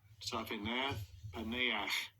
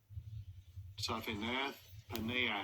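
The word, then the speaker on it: Zaphenath-Paneah: We're gonna get the correct pronunciation on that. Let's see if the blue letter will do it. Strong's H 6847. Zaphanath Paneah. Zaphanath Paneah.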